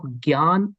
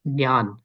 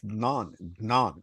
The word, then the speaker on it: ज्ञान: Yeah, it is Gnan, right? So one general principle is that in North India, they tend to cut the last syllable into half.